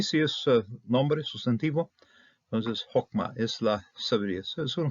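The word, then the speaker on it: חכמה: cuando es una Silva cerada no accentua lo pronunciamos o entonces lo vemos también en forma verbal aquí si es nombre sustantivo Entonces hokma es la sabiduría es una forma femenina voy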